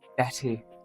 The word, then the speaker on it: Betty: Betty. Oh, they're pronounced with D, so it's Betty.